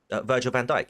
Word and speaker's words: Virgil van Dijk: or D Mohammed Salah is that how you pronounce that that third one Virgil Van Dyke yeah okay hello my name is Sergeant Van